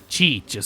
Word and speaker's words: Cheech: And when I was looking at them, yeah, she does, say her name as Cheech. So, I guess that's how you pronounce her name.